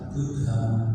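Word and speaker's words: Budha: Lalu yang ketiga, B-U-D-H-A dibaca Buddha, artinya hari Rabu.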